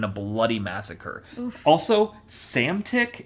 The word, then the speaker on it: Psamtik: Cambyses' forces prevail over the forces of the Egyptian pharaoh Psamtik III in a bloody massacre. Oof. Also, Psamtik, and that's also spelled Psamtik. Silent P's? Yeah, that's a power move. That's silent P? Yeah, Psamtik.